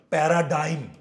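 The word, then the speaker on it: paradigm: রাখো প্যারাগন অথবা লেখো প্যারাডাইম পি এ আর এ ডি আই জি এম সঠিক উচ্চারণ প্যারাডাইম পি এ আর এ ডি আই জি এম প্যারাডাইম প্যারাগন অথবা কি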